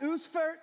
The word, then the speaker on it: Ausfahrt: It's pronounced Ausfahrt, okay?